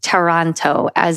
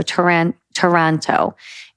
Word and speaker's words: Taranto: I'm going to go with Taranto, not as in Toronto in, Canada, but as in tarantula. So Taranto.